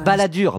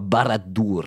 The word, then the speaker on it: Barad-dûr: Non, pas Baladur, Barad-dûr. Ça s'écrit comme ça. Barad-dur. C'est du Sindarin.